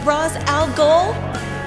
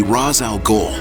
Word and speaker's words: Ra's al Ghul: Now am I pronouncing it right? Mr. Ra's al Ghul?